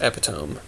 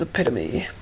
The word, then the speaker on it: epitome: she tried to convince me that that word was correctly pronounced epitome. Nope, that word is epitome.